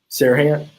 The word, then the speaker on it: Serhant: How do you say his last name? Serhant. Serhant, yeah.